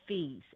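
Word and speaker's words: Fils: We would say author and his last name is Feast and it's spelled F I L S and the L is silent.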